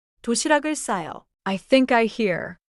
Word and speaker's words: 도시락을: 도시락 뒤에 을이 오면 받침 기억이 이어져서 도시학을이 아니라 도시락을처럼 들려요. 도시락을 싸요.